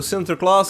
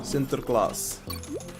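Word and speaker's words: Sinterklaas: today spell it please so Center class is s-i-n-t-e-r Center s-i-n-t-e-r and then k-l-a-a-s class Center class like this sinter class see it on the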